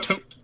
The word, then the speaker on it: Thoth: tote? Tooth? Tooth? It's like pronounced tote, I believe, because it's all weird in Egyptian, and calling it weird is probably incredibly culturally insensitive.